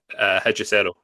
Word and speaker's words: Hechicero: Do you know how to pronounce his Oh, name? Hechicero.